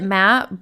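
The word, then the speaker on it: Matth: She says it Matt, but it's spelled M-A-T-T-H. So math. Anyway, Matt wasn't considered an essential worker, so he was home for 2.5 months.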